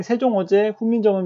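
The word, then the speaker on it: 세종어제훈민정음: 라고 써 있죠 네 뭐 굳이 생 종 엉 쟁이 라고 쓰고 읽을 필요는 없습니다 그냥 세종 어제 훈민정음 이라고 읽으면 되는데 중요한 건 여기에 요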